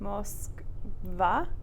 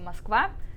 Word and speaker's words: Москва: So take that, and now with that o, remember it becomes an a sound. It's one syllable before the stress. So knowing that, how would you say it? Moskva. Moskva. Yeah, Moskva. Moskva. Yeah, and so even though it's written Moskva, again, that vowel reduction changes it to the a sound.